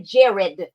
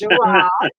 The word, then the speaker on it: Jirard: Yes, that's it, Jirard. Okay. I keep wanting to say Jared, but it's Jirard.